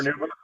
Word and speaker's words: carnauba: I can't pronounce it. Say it again, Chris. Carnauba. Yeah, Carnauba wax.